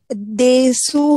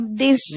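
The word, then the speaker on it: です: हाँ, तो इसका प्रोनाउंसिएशन जो है वो देसु होने के बजाय देस होता है.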